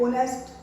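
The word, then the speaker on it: honest: अब इंग्लिश में आप होनेस्ट लिखते हो, बोलने में क्या है ओनेस्ट, एच साइलेंट होता है, ऐसा हिंदी में नहीं है।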